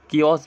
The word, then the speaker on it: chaos: Anarchy, अराजकता, इसको हम कियोस भी बोलते हैं। क्या बोलते हैं? कियोस भी बोलते हैं, जिसकी स्पेलिंग में होती है CHAOS, कियोस, ठीक है।